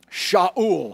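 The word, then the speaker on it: Shaul: did his six son became here's his name sha you'll I'm gonna spell it for you sh a ul and it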